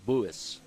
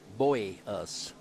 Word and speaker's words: Buis: Nick bus yeah it's it's actually uh kind of pronounced buis buis yeah I know it's hard to do but it's almost like boy us you know got it